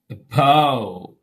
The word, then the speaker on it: above: Above.